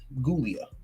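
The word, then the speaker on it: Giulia: um and it's and it's spelled with a G but it's gouia and for those who don't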